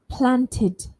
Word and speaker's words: planted: When the root word ends in d or t, we pronounce the ending with id, id.